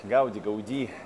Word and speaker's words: Гауди: Гауди, все время путаюсь. Нет, он каталонец, конечно, с ударением на последний слог.